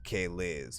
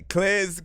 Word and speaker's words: K-Liz: So I feel like until people know that it's pronounced K-Liz, right? They gonna be like me. They'll be Cliz.